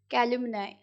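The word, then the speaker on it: calumny: कैल्युमनाई, कैल्युमनी, ठीक है, या कैल्युमनाई, कुछ भी प्रोनाउंस कर सकते हैं, कैल्युमनी।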